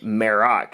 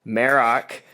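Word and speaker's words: Marrok: I also liked um maroc is how we say his name I believe so we were we were butchering it with our Southern Accents the last couple weeks but maroc he's got a cool voice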